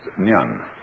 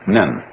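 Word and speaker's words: 念: It's pronounced nyan, in Japanese nen.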